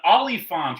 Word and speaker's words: Oliphant: Who kills an Oliphant rider with a spear in The Return of the King? I spelled Oliphant like the actor. Yeah. So I learned that it is said like elephant.